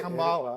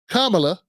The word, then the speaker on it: Kamala: what I'm saying and Kamala and what helped me out is just putting Kama and then lie on it because when I've said